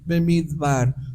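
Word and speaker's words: מדבר: es necesario que entiendas pero esas palabras se pronuncian midbar por eso el Eterno nos lleva al Desierto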